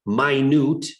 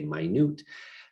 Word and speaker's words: minute: These are all, we have miniature, tiny, sizable, vast, minute. It looks like minute, spelled the same, but we say minute.